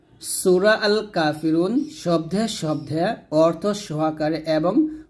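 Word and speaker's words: كافرون: কাফি রয় পেশ রু নুন জবর না কাফিরুনা হবে কাফিরুন রুতে আমরা তিন আলিফ টান দিয়ে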